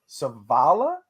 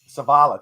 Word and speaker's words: Zavala: last season and a North Carolina State's Chandler Savala I know Evan will probably butcher me if he knew how to say the real name but those two guys there Zavala thank you what do you think of this